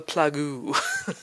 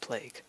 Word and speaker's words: plague: I avoided them like the plagoo. It's like, no, I'm not walking on that. And yes, I know it's pronounced plague.